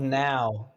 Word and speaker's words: Nou: his we were called now night old urine is that word now that's what i call music one came from spelt with a w number one no it's n o u pronounced now hey butthead where's the